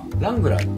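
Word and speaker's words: Wrangler: ですかラングラーってダブルから始まるんですよところがですね発音しないんですよね多分発音しないですサイレントダブルって名前が発音し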